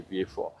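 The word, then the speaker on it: Vieux Fort: understand um and why I just refuse to say view and always say V4.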